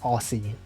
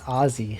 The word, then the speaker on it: Aussie: I used to think that word was pronounced Aussie. It's Aussie. For some reason, it's pronounced Aussie.